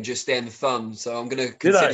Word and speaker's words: Thun: I should say you just pronounced your own name just then, Thun.